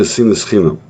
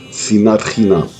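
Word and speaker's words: שנאת חינם: Talmud Yuma 9b tells us the last destruction happened due to sinas chinam, or as the Sephardim pronounce it, sinat chinam.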